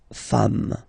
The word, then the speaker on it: femmes: s at the end, and as we said, you don't pronounce it, so you get des femmes.